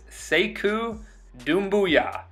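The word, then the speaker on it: Sekou Doumbouya: you should have no excuse on how to pronounce his name. I'll say it again. It is Sayku Doombooyah.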